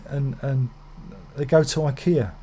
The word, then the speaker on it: IKEA: and they go to ikea sorry ikea i must say it properly ikea to get some stalls